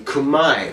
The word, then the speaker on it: Khmer: The technically correct term to refer to the Cambodian ethnicity would be Khmer. Yeah, that's right. All this time you thought it was Khmer, right?